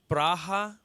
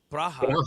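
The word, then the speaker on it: Praha: And how do they say it? Braha. Braha. That's how they say it. Braha.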